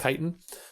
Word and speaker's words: chitin: It's sometimes pronounced, I don't know. I used to pronounce it chitin because I'd only read it. I believe it's pronounced chitin.